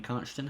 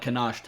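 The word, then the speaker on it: Konschtat: constant Highlands you know for years I pronounced that can't I what how did I pronounce it constant Highlands no cannot I used to call it cannot islands have no idea why it's not even reasonably close to the spelling of the word but anyway nobody nobody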